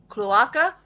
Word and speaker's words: cloaca: Cloaca?